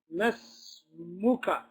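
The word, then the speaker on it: ما اسمك: So ahsant is jump straight from the fatha to the sin. And you say mas. Mas. And that's the logic behind it sounding like mas. Masmuka.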